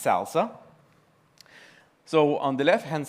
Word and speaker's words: SLSA: It's pronounced Salsa.